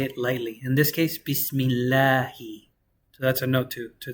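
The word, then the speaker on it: بِسْمِ اللهِ: We're actually going to pronounce it lightly this time. Bismillahi. Bismillahi.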